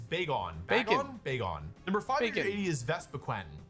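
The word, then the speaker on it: Vespiquen: Number 580 is Vespaquen. Did you all know it's spelled Vespaquen, not Vespa Queen?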